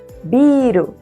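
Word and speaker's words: ビール: Tomem cuidado que tem dois biro no japonês. Biru com prolongamento, que é cerveja, e biru sem prolongamento, que é prédio.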